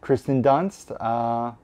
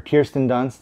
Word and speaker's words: Kirsten Dunst: one bring it on Kristen Dunst or Kirsten Dunst I guess it is I always say her name wrong I did not own